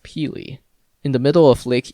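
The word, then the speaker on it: Pelee: mainland ontario is pili island yes here is pronounced pili in the middle of lake erie a canadian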